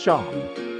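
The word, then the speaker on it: Seam: The name's Sin, pronounced Sean.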